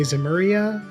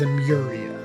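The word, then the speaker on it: Zemuria: we mentioned zimmer zamuria i might also say zameria because that's how i read it but the canon pronunciation is a muria so i'm trying to stick to that liberal is proud to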